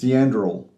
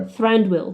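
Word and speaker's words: Thranduil: Uh he for example, he is Theandril in the Hobbit series.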